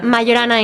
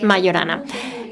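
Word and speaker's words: Majorana: didn't want to forget about something is it Mahana or Mayana Mayana in Italian it's pronounced Mayana there are are so many books that talk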